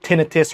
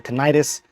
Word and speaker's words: tinnitus: then also something about tenius or tentis although I believe the correct pronunciation is actually tentis but um nonetheless is